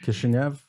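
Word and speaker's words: Кишинёв: In Russian, it's pronounced Kishinev, and I guess in Romanian, it's Chisinau.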